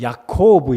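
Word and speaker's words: יעקב: 다 알고 계시지 않습니까 야곱 히브리 발음으로는 약 거부 입니다 야콥 우 영 어느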